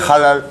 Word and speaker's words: halal: cassez les couilles avec le halal, le cachet. Mais c'est bien, Non. Tu sais que ça s'écrit halal, ça s'écrit Avec un H. H-A. Non, ça se prononce à l'espagnol.